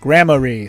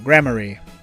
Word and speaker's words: Gramarye: Thank God it gave me a pronunciation. Gramarye.